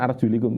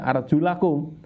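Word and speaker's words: أَرْجُلَكُمْ: Kalau kena bak berarti kan arjulikum. Ini tidak, arjulakum, sehingga baliknya ke depan. Maka basuhlah wajah kalian dan 2 tangan kalian, nah gitu ya. Jadi bunyinya tidak arjulikum tapi arjulakum ilal ka'bain.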